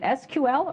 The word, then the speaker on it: SQL: pronounce it is it SQL or is it sequel my friends in industry tell me that sequel is the in pronunciation so that's the one